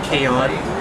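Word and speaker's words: Kayain: also with Colourton, and also my singing name Kayon, which is spelled K-A-Y-A-I-N, and it means beloved child and high status and royalty in different countries like Arabian and Muslim too.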